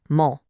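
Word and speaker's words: も: We're talking about mole pronounced mole.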